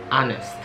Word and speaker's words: honest: Karena misalnya to be honest, misalnya Hanes gitu kan. Padahal di sini huruf H tidak dibunyikan, jadi silent. Jadi the way you pronounce, the way you say is honest.